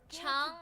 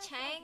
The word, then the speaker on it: Chung: Oh, it's Chief Chung, not Chang? I've been pronouncing it all wrong.